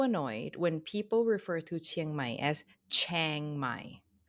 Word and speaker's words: Chiang Mai: I am so annoyed when people refer to Chiang Mai as Chiang Mai. Like, so many times I hear people say, "Oh, we're gonna go to Chiang Mai.